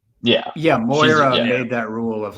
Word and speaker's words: Moira: Oh, also, Um, Patrick, good job pronouncing Moira. I'm trying really hard. I'm trying really hard. You did it right. Moira. All right, issue Moira.